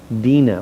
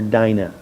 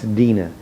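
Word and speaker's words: Dinah: This son Sheckchham is the one who in Genesis 34 rapes Jacob's daughter Dena or you might call her Dina, but it's Dena.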